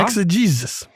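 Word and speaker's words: exegesis: ex ausing today yeah ex a Jesus e ex e g s i s four syllables a noun and it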